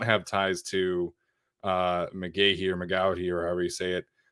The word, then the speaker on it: McGaughey: Thomas McGaughey, the former special teams coordinator for the Giants. Yeah, McGahee. I've seen it pronounced both ways, but former special teams coordinator of the Giants.